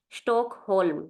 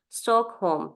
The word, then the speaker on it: Stockholm: city in German is Stockholm this is stockolm and in and in English is stock home this is stock Home L is silent in English so home okay then next uh